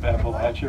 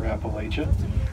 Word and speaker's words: Appalachia: that's our plants of Appalachia or Appalachia and it does depend on where you are in the mountain how that word is pronounced one of them is